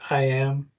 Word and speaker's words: AIM: I know it says AIM, but we usually pronounce it IM.